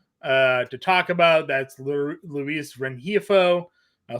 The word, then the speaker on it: Rengifo: That's Luis Rengifo.